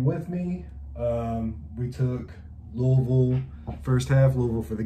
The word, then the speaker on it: Louisville: state louisville game with me um we took louisville first half louisville for the game that is correct pronunciation of louisville um they got sick jerseys